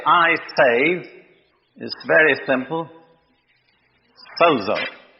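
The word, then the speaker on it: σῴζω: Sozo. that letter is pronounced like a DZ, sozo.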